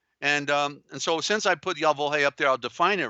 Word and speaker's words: Yahweh: Yahweh is, they say Yahweh. It's Y-A-H-W-E-H. Yeah, Y-A-H-W-E-H. See, nothing is spelled correctly, so it's hard to follow when phonetically nothing fits.